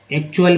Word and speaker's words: actual: अब इसके बाद देखिए जो है ACTUAL, यहाँ पर बोला गया एक्चुअल में।